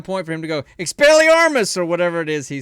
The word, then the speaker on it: Expelliarmus: So- To say it completely right, you have to say it with slight accent. Expelliarmus.